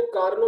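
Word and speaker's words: Carnot: आपको वैसे यहाँ पे लिखा हुआ नजर आएगा कार्नोट इंजन, लेकिन इसमें टी साइलेंट होता है, इसको कार्नो इंजन कहते हैं।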